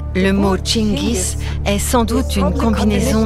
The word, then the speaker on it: Chinggis: C'est curieux que ce nom ait fini par devenir Genghis Khan. On pense qu'à cause de la façon dont le nom était écrit en persan, la prononciation a changé.